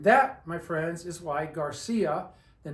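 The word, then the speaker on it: García: how about the name Garcia you tell me Garcia okay stretch it out Garcia when you stretch it out you can hear you're pronouncing the I and you're hammering on the a as well Garcia well when I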